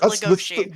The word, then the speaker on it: Legoshi: how they keep saying legoshi and that I'm just they say I listen I understand that you're angry but they do pronounce it legosi that's the stage name